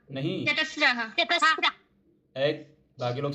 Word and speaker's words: चतस्रः: चत्वारः। नहीं, चतस्रः। एक। बाकी लोग साइलेंट।